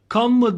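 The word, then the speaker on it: Canva: söz etmek istiyorum ben kanva diye bir program kullanıyorum şurada gördüğünüz gibi okla gösterdiğim yerdeki yazılışı canv okunuşu canadır arkadaşlar ve şimdi küçük resmimizi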